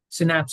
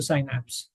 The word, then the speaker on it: synapse: The connection happens at a synapse or synapse, right? Depending on how you want to pronounce it.